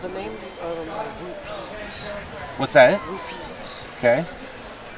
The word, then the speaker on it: Rupees: Rupees. Okay. It's a bit awkward, but I think it can be pronounced both, but I don't know. it's actually spelled R-U-P.